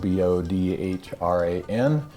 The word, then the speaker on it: Bodhran: It fools a lot of people because it's spelled B-O-D-H-R-A-N. You'll probably have seen that in the title of this YouTube video, but it's pronounced Bodhran.